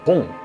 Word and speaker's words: Bön: On l’appelle Bon benzène Le mot tibétain se prononce bon Dérivé du mot indien